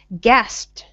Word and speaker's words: gasped: Gasped. Gasped. Gasped. Gasped. Mm-hmm. Make like a T sound at the end.